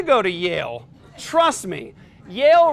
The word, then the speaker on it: Yale: to Yale trust me Yale rhymes with jail and they probably wouldn't